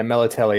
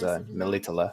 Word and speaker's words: Melitele: Yeah, Melatelli is what they call her in the games. In the books, in the book, at least how Peter Kenny pronounces it is Melitele.